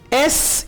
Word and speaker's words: est-ce: एस यून horloge, EST-CE को आपने इकट्ठा प्रोनाउंस करना है एस।